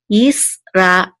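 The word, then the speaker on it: ישראל: together, which says el, Yisrael, Yisrael. And this is the accent mark right here, so we know that the accent is on the last syllable, el, Yisrael.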